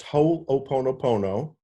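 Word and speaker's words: Hoʻoponopono: worth asking it's pronounced ho oponopono okay everybody stumbles over it you're not alone everybody stumbles over you just pronounce every one of the syllables so it's ho o pono ona and it is a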